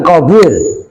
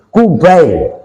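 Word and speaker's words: قُبَيْل: Ada juga tulisannya persis seperti itu. Tapi bacanya bukan Qabil, Kubail. Kubail itu tasghirnya Qobla.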